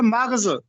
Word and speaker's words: مغز: کے خالی ہے صدا۔ اس کو لوگ مغز پڑھتے ہیں، وہ غلط ہے۔ یہ لفظ ہے مغز، قصد، مغز، فروتنی، ظرف۔